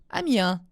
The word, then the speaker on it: Amiens: Amiens sans prononcer le S. Ah, d'accord. Amiens.